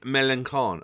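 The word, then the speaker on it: Mélenchon: He had been in France interviewing Melanchon. Okay, fair. I like that name because it rhymes with Leon, Puerto Rican Roseport.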